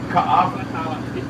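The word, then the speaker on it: Kaʻawa: Ka'ava.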